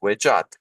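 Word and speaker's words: wedjat: So in this particular case, it's pronounced Wejat, and the German Edfu project is translating this as the land of Egypt.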